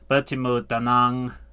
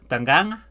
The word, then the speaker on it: dengan: That G doesn't sound pronounced, so senang bertemu dengan dengan.